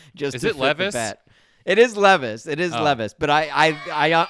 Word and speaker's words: Levis: 2 34 and a half yards for will Lis okay I love I love that you're changing the pronunciation of his name just is it is Levis it is Levis but I I I I